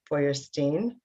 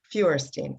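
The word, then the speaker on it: Feuerstein: the brainchild of bella foyerstein i think i pronounced your name wrong it's fewerstein okay got it one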